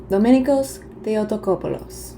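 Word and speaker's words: Domenikos Theotokopoulos: Can you tell I just got back from Greece and learned how to pronounce everything? His birth name, however, is Dominikos Theotokopoulos.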